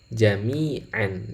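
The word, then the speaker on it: جَمِيعًا: Ini kalau dibaca sama dengan jami'an, jadi ada ain di fathah kemudian ada nunnya. Secara tulisan tanwin ya, jami'an dan lafal qauman. Tapi kalau cara bacanya sebenarnya dia menyimpan huruf nun ya.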